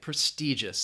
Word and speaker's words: prestigious: Prestigious. That I in the middle has that long E sound, prestigious.